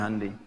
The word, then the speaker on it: Hyundai: Jepang bikin Honda ya Korea bikin hundai Hyundai bacanya Handi kemudian sana masuk Piala